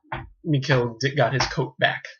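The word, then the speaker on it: Michel: I don't even know if I'm saying his name right, but bear with me. Anyway, it's spelled M-I-C-H-E-L, so there you go. Mikel. We'll call him Mikel.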